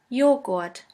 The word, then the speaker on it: Joghurt: The letter J is pronounced like the Y in the word yogurt. The German translation for yogurt is Joghurt.